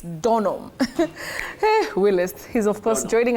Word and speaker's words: Donholm: not eily it's eastly and not Don it's not Don home it's donam Willis he's of course